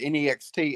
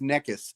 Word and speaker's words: next: English for that is most Egyptians pronounce the word ne XT as neck is instead of next knot so it makes